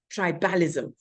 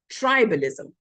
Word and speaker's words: tribalism: We hear people talking about tribalism. Actually, it's not. It's tribalism. So the stress is on the first syllable.